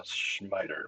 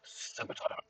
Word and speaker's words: scimitar: Some people call it a schmiter, but I have always pronounced it scimitar.